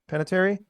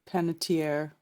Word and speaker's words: Panettiere: this is kind of a weird one Jason panatieri I pronounce that right peanut Panettiere Panettiere Panettiere he uh actor and brother of Hayden